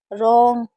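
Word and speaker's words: wrong: तो जब भी डब्ल्यू आर साथ में होगा तो डब्ल्यू को नहीं पढ़ेंगे। जैसे right रीस्ट रॉन्ग rap rack racial racial में टी साइलेंट है।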